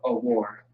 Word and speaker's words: Awar: We actually got a brother in the school by the name of Awar. Awar is how you pronounce it.